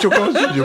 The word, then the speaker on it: Choker Studio: C'est comme ça, c'est Choker Studio. Mais oui, il ne faut pas choquer dans le mot.